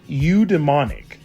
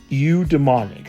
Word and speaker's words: eudaimonic: So, today we're going to look at another form of happiness called udemonic. Eu demonic. I'm hoping I'm pronouncing that right.